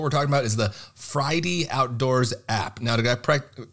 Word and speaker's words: Fridie: so folks what we're talking about is the fridy outdoors app now did I pronounce that correctly you sure did perfect so